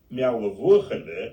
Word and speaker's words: Meall: I will now drop in the actual pronunciation. Meall, meaning the shepherd's hill.